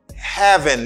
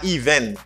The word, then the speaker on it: heaven: Moi c'est heaven, li pa even. Li c'est heaven.